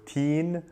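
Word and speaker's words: تين: Arabic that's the word teen which is fig okay teen easy to pronounce just like the abbreviation of teenager so teen now if I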